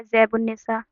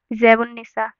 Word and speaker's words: زیب النساء: زیب النساء. ایسے ہی عبدالستار الف اور لام کہیں پہ پروننسیشن یعنی اچارن یعنی کہ تلفظ میں کہیں بھی الف لام کو نہیں پڑھا گیا. عبدالستار. زیب النساء.